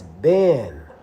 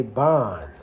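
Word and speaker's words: בן: That's ben. Some people like to say bon. But the correct pronunciation is just like over here today, right?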